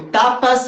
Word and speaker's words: tapas: Mas tudo bem, o tapas é como quando a gente toma um tapa da vida, um tapa na cara. Então a pronúncia é exatamente igual. Tapas.